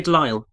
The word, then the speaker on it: Delisle: Better known as Grey Delisle, perhaps. Yeah. Grey Delisle. Or, no, it is Grey Delisle. Huh. I've just been saying it wrong all these years, then.